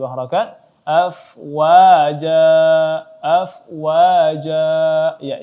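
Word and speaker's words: أفواجا: Afwaja, afwaja. Ya, jim di sini ada mat iwad maka dibaca 2 harakat saja.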